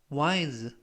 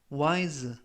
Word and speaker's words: wise: 하고 있어라는 뜻이 되겠습니다 이번 표현은 wis wis 라고 발음하시면 되겠고요 이때 유의하실 점은 s가 c가 아니라 발음이납니다 그래서 ys라고 발음하시면 되겠고요 품사는 형용사 뜻은 현명한이라는 뜻을